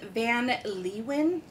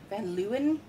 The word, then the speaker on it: Van Leeuwen: It was funny on their website. They give you two different ways to pronounce it, either the American way or like the German way. And I'm going with more the American way here.